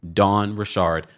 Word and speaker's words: Richard: As someone that has spoken and interviewed Dawn Richard multiple times, that is the way you pronounce her last name.